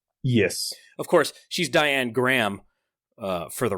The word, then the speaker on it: Graham: and that's how I learned that it's it's pronounced Graham and not Graham we have two people heavily exposed agent orange